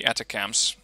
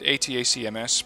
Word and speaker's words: ATACMS: an abbreviation for but considering it's an actual abbreviation you should be pronouncing it atacms but of course that's